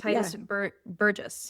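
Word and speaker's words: Tituss Burgess: We also saw a celebrity in that one, Titus Burgess. That's how you pronounce that.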